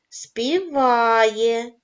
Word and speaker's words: співає: падає на звук а співає наголос падає на звук а кукурікає наголос падає на